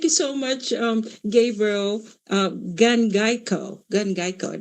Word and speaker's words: Gangayco: Gangayco, is how you pronounce it.